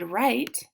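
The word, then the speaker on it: write: height right so I typed the word right into this box because it has a WR at the beginning this one is mm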